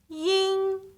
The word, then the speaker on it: 阴: Make sure you do not add a g sound at the end of yin.